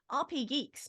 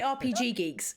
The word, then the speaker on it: RP Geeks: how you say it some people say RPG Geeks and they're wrong so uh if you've ever had us and said that you're wrong RP Geeks I've